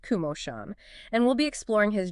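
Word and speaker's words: Komoshan: That's K O M O S H A N pronounced Kumosan.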